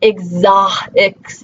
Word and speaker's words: exhausted: How many of you say vehicle or exhausted, right? We don't typically give the H any sound in those words.